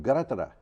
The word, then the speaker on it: Greta: i could duplicate it greta sounds more like gratara okay yeah so it's like four syllables toonberg is tunabella okay